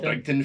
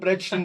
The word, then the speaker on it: Bridgeton: They call it Brigton through here. No. It's spelt Bridgeton, probably it's called Bridgeton, but nobody calls it Bridgeton, they call it Brigton.